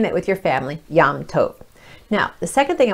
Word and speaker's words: Yom Tov: It's pronounced Yom Tov.